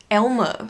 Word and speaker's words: Aylmer: And it's called Elmer, for God's sake. Except it's spelled Aylmer.